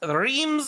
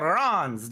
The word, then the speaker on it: Reims: we are here at Reams or Rons depending on what side of the world you want to try to pronounce it as you'll probably hear